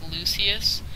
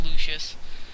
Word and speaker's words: Lucius: Dante Mana dramatic Lucius I used to pronounce that different I pronounced it like Lucius and I played the game for a couple seconds and one of the people actually pronounced my name and it's Lucius so yeah cuz yeah that's